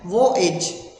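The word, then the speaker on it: voyage: याद करेंगे वी ओ वो एज, वॉयेज प्रोनाउंसिएशन है वो एज।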